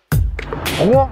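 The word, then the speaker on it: Rouen: et on m'a dit c'est en une syllabe fils de donc c'est rouan c'est pas r c'est comme les gens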